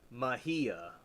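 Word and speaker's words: Mejía: Mahia. Mahia. Yeah, okay. Kind of like Halasco.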